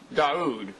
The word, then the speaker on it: Dawoud: Dawoud, right?